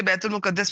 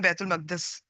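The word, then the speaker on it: بيت المقدس: हम इसे बैतुल मुकद्दस भी बोलते हैं, असल में बैतुल मकदस ये प्रोनाउंसिएशन है।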